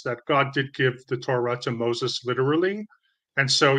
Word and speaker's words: Torah: Orthodox Judaism does not believe that the Torah, how do you say it?